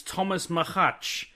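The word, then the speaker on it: Tomáš Macháč: I remember feedback we need to get our pronunciations I'm about to listen to it live I was right it's Thomas mahatch and I'll tell you why I know that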